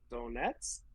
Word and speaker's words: Donetsk: Donetsk, You know, you said it right.